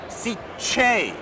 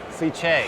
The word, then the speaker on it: Sicce: But what's the correct pronunciation of Sicce? Sicce. Sicce. Hard ch.